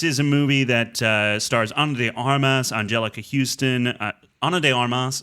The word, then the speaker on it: Ana de Armas: You say Ana de Armas all the time. It's wrong. No, I say Ana de Armas. No, this is the first time you've said it right on the microphone.